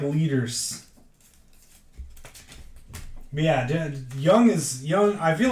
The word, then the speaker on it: Jung: pronounce it too Josh Young yeah a lot of people say Jung too Josh Jung it's actually Young Josh Young oh he's not young